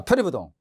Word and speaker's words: 표리부동: 이 아닐 불자 다음에 디귿이나 지읒이 오면 불자가 뭐로 발음돼요? 부로 발음되죠. 그러니까 디귿이 오니까 동이 디귿이니까 이게 디귿이니까 불동이 아니고 부동이죠. 예, 봐. 표리부동.